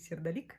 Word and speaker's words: сердолик: Правильно говорить сердолик, надо запомнить.